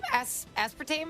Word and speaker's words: aspartame: Aspartame?